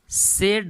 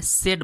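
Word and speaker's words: said: ध्यान दीजिएगा, इसे का जो सही प्रोनाउंसिएशन होता है सेड बोलते हैं, ठीक है, सैड नहीं बोलते हैं।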